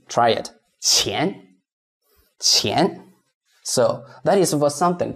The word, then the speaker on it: 钱: So, lots of learners find the pronunciation 钱 not easy. Let's see, how can I make it easier? So, for this 钱, what you can do is you rewrite it into C-H-E-E-A-N. Now it's easy.